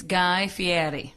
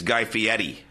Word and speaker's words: Guy Fieri: face of the Food Network yes I will pronounce it wrong you will correct me it's Guy Fieri yes it's actually because I was the announcer